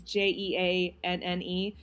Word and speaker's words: Jeanne: It's Jeanne, but she pronounces it Jean because she's bougie.